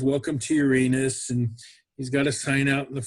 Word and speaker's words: Uranus: It's pronounced Uranus." And I always say, "Well, go watch Jeopardy sometime because Alex Trebek always calls it Uranus."